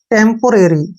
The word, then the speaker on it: temporary: और RARY को कैसे पढ़ेंगे? आर का उच्चारण हम रे करेंगे और ए को जो है ए के रूप में लिखेंगे और आर का उच्चारण फिर से रे करेंगे और वाई का उच्चारण ई का रूप देंगे इसको।